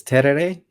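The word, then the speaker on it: tereré: for the tara yeah how do you pronounce that word i think it's terere t-e-r-e-r-e my brain every time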